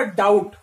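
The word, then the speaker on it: doubt: करूंगा, तो क्या बोलूंगा, डाउट। तो यहां पर बी जो है, बी का मैं उच्चारण नहीं कर रहा हूं, इसलिए यहां पर बी क्या है, साइलेंट लेटर है।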